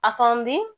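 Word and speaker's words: efendi: كده ز كلمه افندم الكلمه دي اصلها تركي وهي نطقها افاندي ومعناها سيدي او حضرتك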